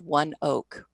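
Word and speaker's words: ONEOK: It's pronounced One Oak.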